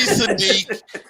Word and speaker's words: Siddiq: It's Sadiq. SIDDIQ. I will spell it.